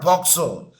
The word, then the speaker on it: POCSO: I pronounced it as a one word, POCSO.